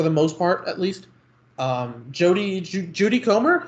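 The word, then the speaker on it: Jodie Comer: Judy Comer, is that how you say her name? Yes, that's correct.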